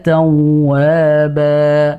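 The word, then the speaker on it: توابا: Innahu kana tawwaba. Gitu saja. Tidak perlu innahu kana tawwaba. Masih panjang lagi. Tidak perlu. Jadi dia hanya tetap 2 harokat, tidak perlu dipanjangkan.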